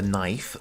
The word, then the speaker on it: knife: We have the knife with our silent K.